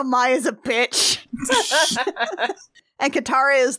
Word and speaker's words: Mai: You know, I think I'm actually pronouncing it Mai, and I think it's actually May in the cartoon. Don't at me. Let's be honest here, How I Became Yours definitely pronounces it as Mai.